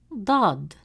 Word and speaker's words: ضاد: Now let's look at ضاد. It is a deep sound, pronounced from deeper in the mouth, with more emphasis and stress on the tongue, pushed with more force from the back of the mouth.